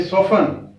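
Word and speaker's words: soften: और ये लिसन, और ये सोफन, सोफन क्या? सॉफ्ट से सोफन, टी साइलेंट है।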